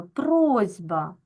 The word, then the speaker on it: просьба: бачимо що у нас дзвінкий звук Б вимагає від глухого с дзвінкості тобто робить його подібним собі дзвінким зі просьба Так ми вимовляємо з вами просьба а в транскри записуємо